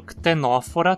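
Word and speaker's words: Ctenophora: No filo ctenófora temos um caso parecido. A penúltima sílaba não tem requisitos para receber o acento, então ela passa para a antepenúltima sílaba. Ctenófora.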